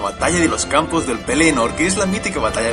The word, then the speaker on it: Pelennor: Para empezar, quiero destacar que la palabra Pelennor es una palabra llana, es decir, la segunda sílaba es la tónica, pero yo a veces